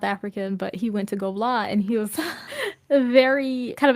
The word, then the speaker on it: Gobelins: It literally looks like, if you read it, I promise you would think it was pronounced like Gobelins or something. It's pronounced Gobla.